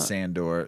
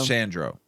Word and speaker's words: Sandro: is go ahead uh I always pronounce his name wrong uh not sandor Sandra Sandro so that's my pick who